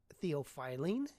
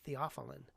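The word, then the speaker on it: theophylline: I remember as a medical student asking my dad, "Dad, what's theopilene?" And he said, "We pronounce it theopheline."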